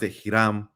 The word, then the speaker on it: Hiram: the name they pronounced itam right in Spanish there's no h in the Caribbean we don't pronounce hes at least not where